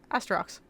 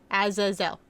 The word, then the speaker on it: Azazel: Astrox. What? Who? I might have pronounced his name wrong once.